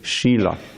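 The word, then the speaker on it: śīla: There's a whole different word, S with a little mark over it, SH, and long I, L, short A, Shila.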